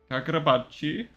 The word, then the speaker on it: Kagurabachi: Kagurabachi. That's how you actually pronounce it.